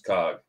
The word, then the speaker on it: Coughlin: at Coughlin 93 spelled like you see down here on the screen like the word cough l-i-n but pronounce Cog I don't know Irish